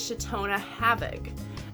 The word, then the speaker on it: Shatona Havig: And I'm actually going to tell you how it's pronounced. I happen to know I grew up with this wonderful woman. Her name is Shatona Havig, and this is my mom.